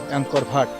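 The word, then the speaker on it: Angkor Wat: অংকর ভাট। ইংরেজিতে উচ্চারণ করতে গেলেংকর ওয়াট উচ্চারণ করে।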